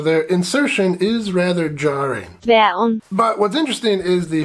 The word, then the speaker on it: Dværgen: In the original Danish, it's called, however you pronounce this word. Dværgen.